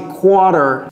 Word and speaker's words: quarter: C'est quarter. Et n'oubliez pas le R avant le T, quand bien même ça se prononce à peine.